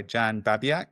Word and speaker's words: Babiak: I'm joined by Jan Babiaak. Am I pronouncing that correctly?